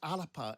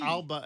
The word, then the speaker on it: Alba: It's Alapa in the Gaelic. How do you pronounce it? Alapa in the Gaelic. Alapa, a P. Alba in English. It's a soft pronunciation from the Gaelic.